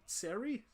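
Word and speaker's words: Xerri: see if Bronson Z Bronson Seri because I think that's how the Z prop is pronounced like had to learn a lot about Chinese history in year 11 and half of them had X at the start of their name so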